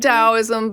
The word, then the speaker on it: Taoism: Yeah, it's pronounced Taoism, but it does, yeah.